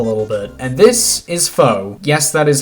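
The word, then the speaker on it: Faux: bit and this is foe yes that is how it's pronounced I know it looks like it would be pronounced as Fox but trust me it's pronounced as foe but Trice interestingly enough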